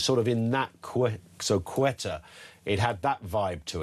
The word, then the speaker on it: Ceuta: Ceuta is pronounced Ceuta, or Ceuta, because there is that C, Cerveza, Thivesa, that thing, I think is the point that Testy...